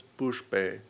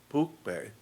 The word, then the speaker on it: pushpe: and incense not as pushpe. It's actually a sha where the tongue goes back a little bit, pushpe, and dupe, but they pronounce it pukpe and dupe.